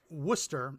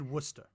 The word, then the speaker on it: Worcester: But it's pronounced Worcester. Or if you're in Massachusetts, Worcester. Basically, if you're from Massachusetts, you just take the word and you just take out all the consonants.